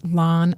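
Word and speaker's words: LAAN: And lan is lan um lancing area AIDS network. It's lawn like rhyming with fla. Yeah. Yeah. So often people want to call it LAN like pan but it's lawn right.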